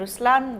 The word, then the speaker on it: Ruslaan: So even in Ruslan, when you say Ruslan also means the lion, it's the attitude of a lion, but the right pronunciation is Ruslan.